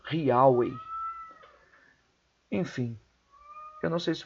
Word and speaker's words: Yahweh: Yahvé, e eles identificavam a pronúncia correta do nome de Deus como Yahweh.